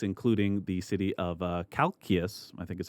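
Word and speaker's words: Chalcis: this certain cities including the city of uh Calkius I think is how you say that one Kis decided to offer him a cult Plutarch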